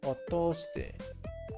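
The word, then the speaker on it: 通して: And then this one is actually pronounced to. Otoshite.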